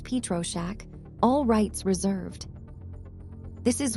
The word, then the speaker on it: Pietroschek: Copyright Pietroschek, pronounced Pietroschek, all rights reserved.